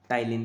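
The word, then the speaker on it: ptyalin: तो ये होते हैं टाइलिन एंजाइम। ठीक है, यहाँ पे पी साइलेंट है तो टाइलिन एंजाइम बोला जाता है इनको।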